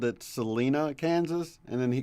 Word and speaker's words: Salina: trucker I knew called, I always called it Salina, Kansas, and then he called it Salina, Kansas. But he took loads there, so I assumed he had it right, but I'm not sure. Yeah. Yeah. No, it's Salina.